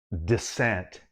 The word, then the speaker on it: dissent: is willing to tolerate dissent. D-I-S-S-E-N-T. I think that's how you spell that. Dissent. Not descend, but dissent, as in dissonance, as in, I don't agree with you, man.